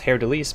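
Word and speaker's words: Haer'Dalis: I know that it's now pronounced Hair Delise because that's how she pronounced it.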